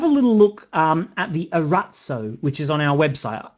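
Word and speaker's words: Arazzo: little look at the Arats Oh which is on our website it's spelt a our a Z Z Oh a rat so which is the Italian word for tapestry if you if you've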